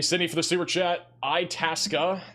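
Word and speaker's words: Itasca: Itasa. That's definitely how it's pronounced.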